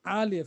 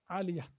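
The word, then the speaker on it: عالية: Yes, this is Ta marbuta, Aliyah. That's why at the end is pronounced like Ha.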